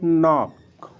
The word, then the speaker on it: know: के साइलेंट होगा, यानी नॉक, नॉक हो गया। नो है KNOW, यानी के आया, के बाद यन आया, तो के बाद अगर यन आया है तो के साइलेंट हो जाएगा, ठीक है।